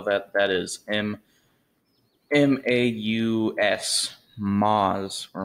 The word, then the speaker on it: Maus: or the moz uh i call it the mouse just because uh that's the english way of saying what the stink is uh if you wonder how to spell that that is m-m-a-u-s moz or mouse now obviously